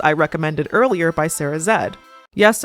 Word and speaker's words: Zed: recommended earlier by Sarah Zed. Yes, I'm going with the pronunciation zed. That's how she pronounces it.